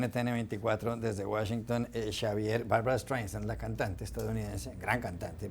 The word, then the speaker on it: Streisand: para preguntarle mil cosas, no pronuncia bien el apellido Streisand, que la segunda S la hace muy fuerte, que tiene que ser más suave.